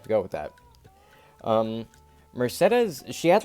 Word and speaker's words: Mercedes: that I know her name looks like it's pronounced Mercedes but it's pronounced Mercedes in the game so we have to go with that um Mercedes she had like a long ponytail like resting